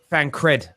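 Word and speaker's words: Fancred: on the air uh fan cred look is it fan cradle fan cream i've been saying it wrong frank terry it is cred yeah i didn't say creed someone wrote fan creed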